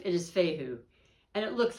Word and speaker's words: Fehu: i promise that one's going to stick now pronunciation fight fehu the theme is cattle or property and this